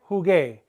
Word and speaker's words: jugué: Just like before we needed the hard C sound, ka, now we need the hard G sound, ga. And that's why. All right, let's take a look at jugar, to play. I played, jugué.